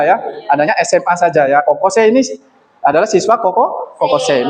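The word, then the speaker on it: 高校生: Kemudian ada kokose. Kokose ya dibacanya panjang.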